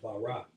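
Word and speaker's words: ברק: You know, and even the root of that word in the Hebrew is pronounced barak, which means literally to cut.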